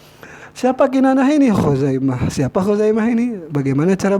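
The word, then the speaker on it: خزيمة: Siapa Khuzaimah ini? Bagaimana cara bacanya? Bidhammil kha'i, dengan dhammah khu kan, al-mu'jamah yang bertitik, wa fathiz zai, dan patah zai, Khuzai.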